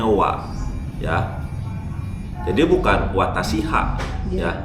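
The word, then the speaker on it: は: Nah, lalu di sini partikel wa itu hiragananya ha. Ditulisnya ha, tapi dibacanya wa.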